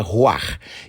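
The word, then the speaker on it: רוח: Escreve-se ruach ou ruach e se pronuncia ruach.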